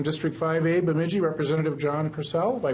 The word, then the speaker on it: Persell: To my immediate left, someone who's not been with us before, I think we decided, from District 5A, Bemidji, Representative John Purcell. Am I pronouncing that right?